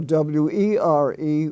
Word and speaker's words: were: are you going or w-e-r-e were like what were you doing and of course e